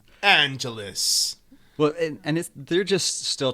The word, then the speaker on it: Angelus: It's basically like Los Angeles, not Angelus. Angelus.